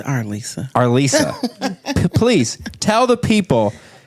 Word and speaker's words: Arlyssa: And people mispronounce it Arlyssa. It's Arlyssa. It's Arlyssa.